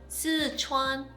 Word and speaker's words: Sichuan: Chili connoisseur, she tasted the Szechuan. Sichuan. Sichuan. How do you say Like you're Chinese. Yeah. Sichuan.